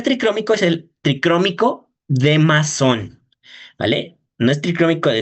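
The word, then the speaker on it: Masson: Y el primer tricrómico es el tricrómico de masón, ¿vale? No es tricrómico de meisón, no es tricrómico de ninguna otra cosa, tricómico de masón, ¿vale? Así se pronuncia.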